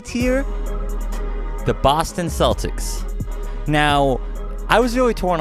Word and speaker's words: Celtic: of people don't realize it's not supposed to be pronounced celtic it's actually celtic it starts with the sea and it's supposed to be a whole irish thing because you know it's